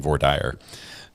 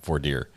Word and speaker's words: voir dire: She keeps pronouncing voir He's saying voir dire. Every time she corrects him, saying voir dire.